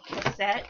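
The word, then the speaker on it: KASSETT: box um I believe it's called cassette which is like it's spelled a bit like cassette like a tape cassette but with a K and no e at the end and I just have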